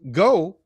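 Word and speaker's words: geaux: Um because you know like they say go in New Orleans, you know it's g e a ux.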